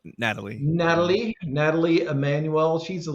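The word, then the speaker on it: Nathalie: and stars uh Nath nathaly I think it's pronounced Natalie Natalie Natalie Emanuel she's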